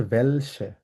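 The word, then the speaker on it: welche: এরপর হচ্ছে আরেকটা বেফ্রাগি হচ্ছে ভেলসে, তালিবাসের মতো উচ্চারণ হবে ভেল সে, তালিবাস ভেলসে, ভেলসে মানে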